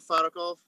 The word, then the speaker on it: Farakov: okay yes so uh my name is farakov um mispronounced my last name a little bit so um i i'm